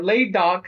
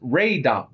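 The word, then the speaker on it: Laydock: Yeah, Laid Do is actually pronounced Ray do.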